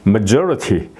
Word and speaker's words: majority: 된다 이런 말씀이죠 그다음에 majority 여기 it 있으니까 그 앞에 여기 엑센트가 이제 있는 거죠 majority majority 예